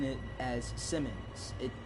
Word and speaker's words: Siemens: london where passengers consider our number siemens is pronounced as c men's yeah no i just like pronouncing it as simmons it it's easier to say oh well holiday